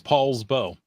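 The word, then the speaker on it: Poulsbo: learned something new yes I don't know why it's Paul but it's Paul's bow it should be Paul's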